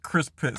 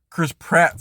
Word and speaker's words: Chris Pratt: of like the cast Brad Pitt or yeah Chris pit sorry um Brad Pitt wow uh Chris Pratt sorry sorry I said that name wrong twice Chris Pratt sorry um the uh